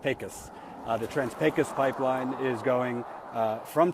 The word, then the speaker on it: Trans-Pecos: when you read it it looks like it's trans P Picos but it's actually pronounced pus uh the trans pus pipeline is going uh from Texas and it's